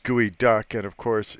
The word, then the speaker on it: geoduck: Geoduck is the world's largest burrowing clan. It's sashimi is a Seattle specialty. Doesn't sound kosher. It's actually pronounced gooey duck.